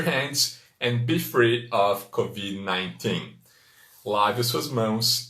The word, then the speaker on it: COVID: Próximo vocábulo que vimos hoje foi o COVID-19. COVID-19, muito parecido com o português, apenas o D é mudo em inglês, não é Covid, é Covid, Covid com D mudo, e o número 19 que é 19, COVID-19.